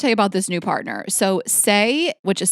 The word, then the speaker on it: Saie: So Saie, which is spelled S-A-I-E, but Saie is an award-winning clean and sustainable makeup brand sold exclusively at Sephora.